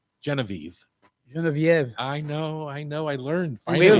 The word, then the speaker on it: Geneviève: I think of all the years I spent mispronouncing Genevieve. Geneviève.